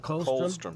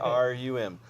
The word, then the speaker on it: colostrum: colostrum. Yeah, I used to pronounce it. colstrum, colostrum, and that What's is that?